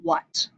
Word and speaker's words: what: Again, give them that highlighter, let them highlight that A.